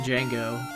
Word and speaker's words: Django: and Jew Django and I pronounce the D even though the D is silent Django there's a there's a